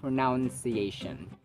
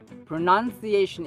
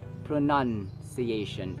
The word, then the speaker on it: pronunciation: pronunciation pronunciation it's not pronounciation pronunciation is a noun pronounce is a verb and there's no word such as pronounciation it's just pronunciation and you n it's